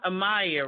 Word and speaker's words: Amayah: So we want to talk more to you, and it's pronounced Amayah, right?